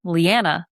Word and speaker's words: Lianna: Lianna, like banana, unless you're British or Australian, in which case all bets are off.